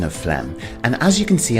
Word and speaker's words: phlegm: Let's take a closer look at the pronunciation of phlegm, and as you can see on screen, the PH is pronounced as an F. And we have a silent G, so this word is quite deceptive.